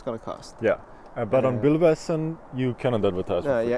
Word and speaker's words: Bilbasen: Do I pronounce it right? Bilbasen.